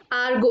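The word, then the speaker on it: argot: आर्गो, इसमें T silent होता है गाइस।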